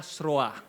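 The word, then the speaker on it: Zeroa: Seroa tapi bacanya serroa ya.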